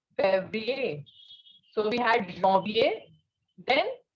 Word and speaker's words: Février: You can see here in Février on E, on the second E, an accent is there. And when such an accent is placed on E, the pronunciation is A. Okay, so it is Février.